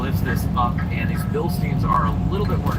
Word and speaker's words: Bilstein: We're going back together with some beautiful bill stains, which are pronounced Bilstein.